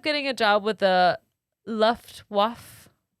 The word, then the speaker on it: Luftwaffe: a job with the luftwaffe luftwaffe it's definitely not that luff there's the w is a v loof um she she got